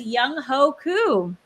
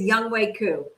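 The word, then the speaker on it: Younghoe Koo: harrison booker or atlanta's young hoku young way oh young way wow i'm so sorry well you said it how it's spelled but it was young way coo um so listen harrison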